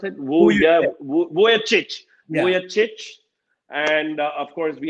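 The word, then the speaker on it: Vujačić: We had Sasha how do you pronounce it? Vujovic.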